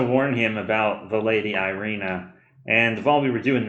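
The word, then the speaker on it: Ireena: Yeah, so in Rena, you're pronouncing it wrong. No, I'm gonna Death of Strahd it. Yeah, it's Irina now.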